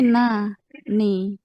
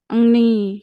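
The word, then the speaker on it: なに: Nani apa? Nah, ni na ni. Nah, ni kalau kanan itu nani nani ni bukan engni itu bukan ya nani.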